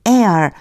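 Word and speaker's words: heir: this is the air. 요거 조심하세요. 얘가 묵음이에요. 소리가 안 나요. 뒤에 air라고 읽어 주셔야 돼요.이 사람은 상속자다.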